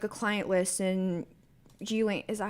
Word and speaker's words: Ghislaine: So, you're Epstein, and you're making, like, a client list, and Ghislaine... Is that how you say her name, Ghislaine?